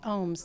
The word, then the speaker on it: Ooms: media there and also it's at the ohms and my last name is spelled oom and it is ohms not ohms like I would have announced contrary